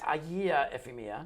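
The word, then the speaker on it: Agia Efimia: Yes, that's Do I have that pronunciation correct? Agia Ephemia.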